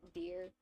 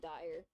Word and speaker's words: Dire: his name correctly because it's supposed to be pronounced deer and I keep pronouncing it as dire like that that's what it looks like but no it's pronounced deer crow but yeah he he plotting he's plotting something.